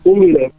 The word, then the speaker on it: Uli: Is it Ula or Uli, by the way? How do you say his name? Uli. Well, his name is Ulrich, which is the same name as mine, the full written name in German.